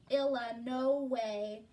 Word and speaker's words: Illinois: He pronounced Illinois, Illa No Way, exactly the way everyone in Vibanks, Kentucky pronounced it.